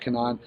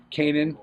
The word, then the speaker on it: Kanan: Wars speaking of that we got Canan Kanan sorry I was informed that I obviously do not watch the uh television show because I didn't know how to pronounce his name only one more issue